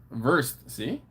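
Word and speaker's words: Wurst: some worse something ver ver see I was good ver ver yeah brought vers yeah so yeah the the W was pronounced like a V so that's why I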